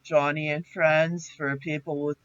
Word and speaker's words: Joni: Johnny Erickson Tata. She wrote a book called Johnny, and her name is spelled Joni, and she is quadriplegic.